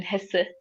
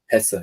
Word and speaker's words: Hesse: Siddhartha by Hermann Hesse. I Mm-hmm. googled how to pronounce his last name. Hessa, yeah. Hesse.